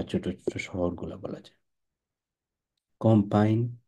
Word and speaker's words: campagne: কম্পাইন, এটা কিন্তু ক্যাম্পেইন না, কম্পাইন, কম্পাইন, এম উচ্চারণ করা যাবে না, কম্পাইন, কম্পাইন ফ্রান্সেজ।